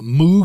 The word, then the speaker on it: Moog: this before right the the uh moo synthesizer his name is Bob Moog even though it's spelled m o a lot of people